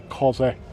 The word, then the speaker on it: Cosworth: You got to say Cosworth like that.